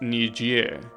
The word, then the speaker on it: Niger: a French country, so you're not supposed to pronounce it as you read it. It's pronounced Niger, right? Because it's French.